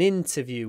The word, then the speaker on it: interview: president on TV interview so the stress is on the in at the beginning interview in make sure you open your mouth so it's not in but in interview I it open your